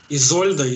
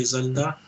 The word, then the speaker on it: Изольда: Поменяйте в ее имени ударение, и тогда вам станет ясно, что она делает в нашей теме. А, Изольда, Изольда.